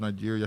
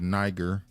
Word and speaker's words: Niger: What's the place right above Nigeria?